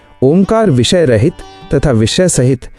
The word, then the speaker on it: ओम: सांस छोड़ते हुए अ उ म का क्रम शुरू करें। इसका अनुपात 1:12 रखें। अंत में म की गूंज को अपने दिमाग में महसूस करें। धीमे और लंबे स्वर में ओम का उच्चारण करें तथा उस ध्वनि के